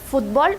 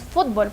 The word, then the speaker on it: fútbol: En cambio, sí vamos a tildar cuando decimos fútbol, porque toda la fuerza de voz recae en la primera sílaba.